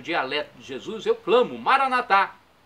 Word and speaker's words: Maranatá: de Jesus, eu clamo, Maranatá. Como dizemos nós católicos, com a tônica na última sílaba, o Maranata, com a tônica na penúltima sílaba, como dizem nossos irmãos separados, os evangélicos ou protestantes. Não importa, a pronúncia e